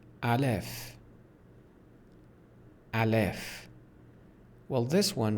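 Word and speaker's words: الف: letters let's get started the first one is pronounced Alf Alf well this one right here the first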